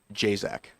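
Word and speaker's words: Jasak: So, sorry about My name is Jzac.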